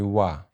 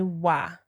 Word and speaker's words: wà: Ajá mi wà. Ajá mi wà.